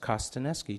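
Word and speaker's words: Kostaneski: I represent them and it's pronounced Kosta neski just the way it's spelled its phonetic you see enriching our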